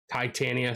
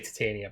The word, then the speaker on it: Titania: dealing with um Titania Titania sorry I I say Titania but I know a lot of people don't um prescribe to that um pronunciation but like there's an